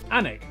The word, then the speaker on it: Alnwick: kwon more kwama before finishing up in alnwick anak which is near newcastle or as the people